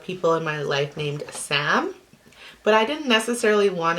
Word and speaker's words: Psalm: that we really liked is Sam and that is spelled p-s-a-l-m and yes that is